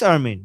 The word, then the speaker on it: Armin: The emphasis is on the end.